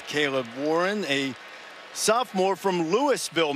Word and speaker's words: Louisville: warren a sophomore from lewisville mississippi where they pronounce the s left guard just raises